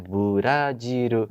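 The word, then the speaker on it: ブラジル: Burajiru.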